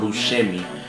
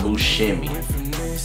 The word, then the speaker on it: Buscemi: favorite designer shoe John buim and you know I found out not too long ago I've been pronouncing uh Bimi wrong actually instead of Bui is Bimi so yeah John bu shimy uh and these are